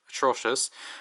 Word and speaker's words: Atrocious: Atrocious. I combined the way that the Z Riser is going to pronounce it and how I typically pronounce it.